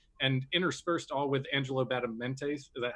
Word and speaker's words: Badalamenti: You've got Marilyn Manson on there, and interspersed all with Angelo Badalamenti. Is that how you pronounce it? Badalamenti.